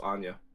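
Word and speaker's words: Anje: your own house but I'm pretty sure it's pronounced Anya I'm pretty sure they should have spelled it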